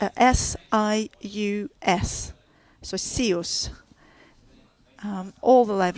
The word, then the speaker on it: SIUS: And that's spelled S-I-U-S.